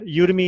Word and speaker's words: Udemy: Is that how you pronounce it? Udemy, yeah.